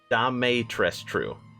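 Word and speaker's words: Dimitrescu: up i'm pretty sure that's how you pronounce pronounce it damay tres true i don't know is romanian surname further leaning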